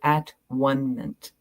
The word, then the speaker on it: atonement: She says the word atonement defines itself when it is divided into its syllables. The first syllable is at, the second is one. The last syllable is meant, this Latin ending, meaning state of being.